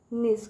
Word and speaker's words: niece: तो देखिए यहाँ पे निस, क्या पढ़ेंगे? निस, जो ये ई है वो साइलेंट है, ठीक है, ये जो ई है बच्चों ये साइलेंट है, तो न की मीनिंग क्या होती है?